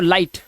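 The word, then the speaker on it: light: आइए दिखाता हूं तो उस हिसाब से ये पढ़ेंगे लाई और जी एच साइलेंट तो लाइट ऐसे ही फाइट साइट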